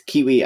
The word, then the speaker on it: KeyWe: It's Kiwi as in the bird, but it's spelt key as in keyboard key, KEYWE, we as in us.